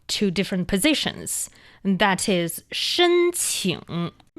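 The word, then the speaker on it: 申请: That is shēnqǐng.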